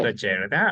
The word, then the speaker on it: crocheted: Crocheted. Because the T sound is going to sound as an R in American. It's called flap T.